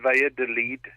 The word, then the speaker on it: Valladolid: Well, from my Spanish is limited as well, but yeah, you pronounce it Valladolid.